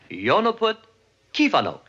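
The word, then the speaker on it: Jó napot kívánok: Yo, Napot, Kivanuk. No, Yonoput, Kivanok. You see, in Hungarian, accent's always on the first syllable.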